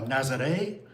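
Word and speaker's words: Nazaré: So, how do you pronounce all these three thing? All these things. Okay. Uh Lisbon, Obidos, uh Nazare, uh Albatasa, uh Fatima, and Kar.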